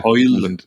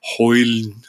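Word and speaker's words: Højlund: Even the penalty on Hoyle, how we pronounce it? Hoyle. Rasmus Hoyle. You don't pronounce that last D or something.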